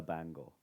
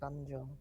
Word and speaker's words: banjo: You are very good at the bango. Thanks. It's pronounced banjo.